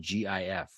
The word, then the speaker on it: GIF: for them is spelled GIF how do you pronounce that I pronounce it gif GIF with a hard G yeah like gifts with no tea like gift with no